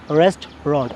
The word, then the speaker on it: restaurant: Should be restaurant, only two syllable.